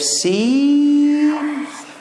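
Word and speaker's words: سين: We have seen, we have sheen. Seen is like S, sa. Sheen is like sh, sha.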